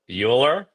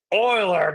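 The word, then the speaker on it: Euler: oh oh well obviously his direct descendant is mispronouncing his great great grandpa's name it's Oiler my friend you're saying it wrong what I'm saying is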